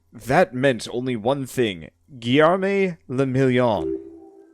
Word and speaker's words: Guillerme le Million: Guillerme le Million. If it doesn't rhyme, you're not pronouncing it right.